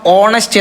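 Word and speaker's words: honest: ആൻ ഓണസ്റ്റ് opinion അവനൊരു ഈ ഹോണസ്റ്റ് എന്നുള്ളതിന്റെ ഉച്ചാരണം ഓണസ്റ്റ് എന്നാണ് എച്ച് സൈലൻറ് ആണ് അതുകൊണ്ടാണ് ആൻ ഹോണസ്റ്റ് എന്ന്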